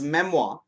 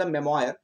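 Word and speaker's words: memoir: An Indian cricketer has written his मेमोआ, believe, इसको मेमोआ pronounce करते हैं, इट्स नॉट द मेमोयर, इट्स द मेमोआ।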